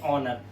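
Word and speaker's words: honour: इसे पढ़ते हैं ऑनर। तो ऐसा लगता है जैसे हम एच को पढ़ ही नहीं रहे। इसका मतलब होता है सम्मानजनक या सम्मान।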